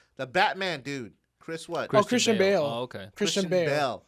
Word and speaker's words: Christian Bale: Chris Bell. Who's Chris Bell? I mean, not what's his name? That I'm saying his name wrong. The Batman dude, Chris what? Christian Bale.